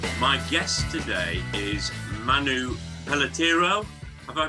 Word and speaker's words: Peletiero: My guest today is Manu Pelletero. Have I pronounced your surname correctly, Manu?